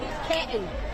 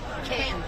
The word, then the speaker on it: Canton: You say it right. Canton. Canton. There's no middle N. Canton.